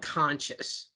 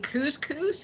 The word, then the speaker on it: couscous: know that food couscous I used to call it conscious and people are like what and I'm like you know that grain stuff they go you mean cous cous and it's like well that's how you say it right no phonic skills